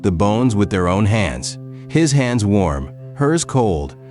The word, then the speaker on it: 한: Han, one syllable, little one, and this country keeps 1,000 years of unfinished business inside it. Han, it sounds like an exhale that decided not to leave.